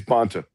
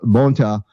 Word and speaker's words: Bonta: I think it's Bonta. Bonta? Okay. Bonta, of course, I don't really care if I mispronounce his name or not, but he's rushing